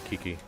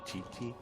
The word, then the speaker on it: Qiqi: it needs to be Kiki. Kiki. Wait, isn't it Chi-Chi? It's Qiqi, so I've been saying it Kiki. Yeah, it's Chi-Chi.